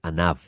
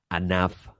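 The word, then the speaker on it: ענו: hebrea para humilde es Anav. O sea, que hay una solamente una letra diferencia la pronunciación. Anán, nube. Anaf, humilde. Palabra que utilizó Jesús de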